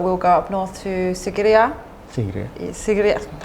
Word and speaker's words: Sigiriya: But we'll go up north to Sigiriya. Sigiriya. How do I pronounce it properly? Sigiriya. Sigiriya.